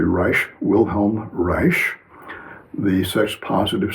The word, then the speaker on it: Reich: This is what the psychoanalyst Wilhelm Reich Rei C some people pronounce it Reich but it's correctly Rich Wilhelm Reich the sex positive psychologist said children should be self-determining sexually.